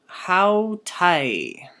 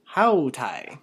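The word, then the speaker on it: αὗται: Okay, and then here we have hautai. Hautai. Repeat after me, say hautai. And here, notice that we have the same alpha iota ending, just like we have in high.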